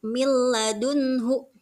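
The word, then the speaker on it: مِن لَّدُنْهُ: Contoh, milladunhu, tidak tidak gitu ya, tapi milladunhu. Itu huruf nun sukun bertemu dengan lam. Nah, jadi nunnya sudah tidak terdengar lagi nun sukunnya, karena hukum bacanya adalah idgham.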